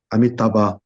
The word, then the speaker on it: Amitabha: But Amitabha should be Amitabh. Asura should be Asur, like that.